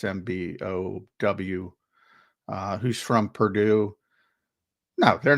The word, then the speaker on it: Mbow: So the 4 guys they brought in, Marcus Mbow. If I butchered his name, I apologize. It's Mbow, who's from Purdue.